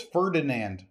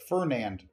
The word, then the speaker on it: Fernand: Fernand is hard to say. You would think it's Ferdinand. Like Ferdinand. But Fernand.